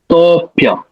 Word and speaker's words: तोऽप्य: तो वो एक ऐसा वेव के जैसा हमें उसका उच्चारण करना पड़ेगा, ऐसा ऊपर जाके नीचे।